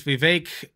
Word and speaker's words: Vivek: special guest known as Vivek, open quotation, rhymes with cake, close quotation, Ramaswamy, who I believe, has he dropped out officially?